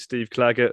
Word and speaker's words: Clager: Strada Rodriguez Lopez versus Steve clager who some people myself included incorrectly pronounced Steve clarage in the preview show